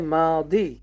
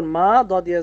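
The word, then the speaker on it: ماضي: এটাকে আরবিতে বলা হয় মাদি মিম আলিফ জবর মা দয়া জের দি মাদি এখানে এই যে বানানটা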